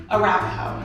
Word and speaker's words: Arapahoe: Arapahoe.